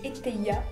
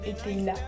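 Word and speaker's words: Etteilla: Mais un autre grand homme s'y intéresse, son nom c'était Éteilla, ou Éteilla, selon comment est-ce qu'on veut le prononcer.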